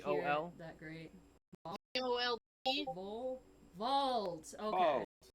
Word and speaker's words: Vold: I'm gonna need you to spell that. I Is can't that hear VOL? it that great. VOLD. Vault.